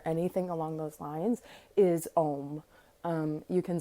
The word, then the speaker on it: Om: So it really doesn't matter how we spell it in English, because truly Om is that. That is Om. And that is how we pronounce it, is Om.